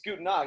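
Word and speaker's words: Gute Nacht: It's Guten Nacht. It's good. Yeah, it's good. You got a good little German pronunciation going there.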